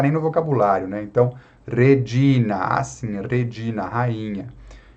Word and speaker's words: Regina: Então, Regina.